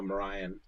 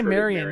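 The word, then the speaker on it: Marian: 15 or whatever what Drew is literally the only person I know who pronounces uh Mariah you say Marion yeah so just just be aware that those are those are the same word the problem because he pronounces it wrong with that I don't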